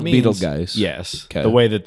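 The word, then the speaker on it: Betelgeuse: Well, Beetlegeist, Yeah. Beetlejuice is how it's said.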